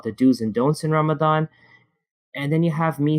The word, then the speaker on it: Ramadan: As I started off by talking about, there's Ramadan, there's Ramadan, and there's Ramazan. It's irrelevant how you say it because you know what you're trying to mean.